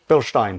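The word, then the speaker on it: Bilstein: How do you say it properly? Billstein. Billstein. Okay. Is that is the German way?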